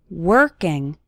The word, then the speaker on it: working: working on your English the letter o in working has more of an ER sound working working on your English